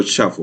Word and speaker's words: shuffle: Numi.random no tiene el atributo shuffle. Entonces, miremos cómo se escribe bien. Y se escribe con U. Se pronuncia sha y se escribe con U.